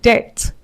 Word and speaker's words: debt: So our final list of words we have debt, indebted, subtle, det. So you do not pronounce the B in between. Do not say depth or inepted or sub to no. You pronounce it without the B.